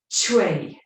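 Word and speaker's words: chui: So the sound that's associated with the kidney is chue. So it's like you pronounce it C-H-A-W, chue, chue. Okay, so you can say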